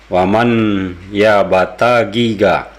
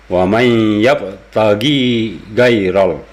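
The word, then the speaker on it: وَمَن يَبْتَغِ غَيْرَ: Dia membacanya waman ya bata giga. Nah, di awal ayat ini aja sudah salah total ya. Dia seharusnya waman yabtagi gairol. Nah, sementara dia membaca tadi waman bata giga.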